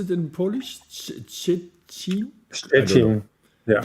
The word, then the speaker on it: Szczecin: How do you pronounce it in Polish? Szczecin? Szczecin. Yeah. Stettin.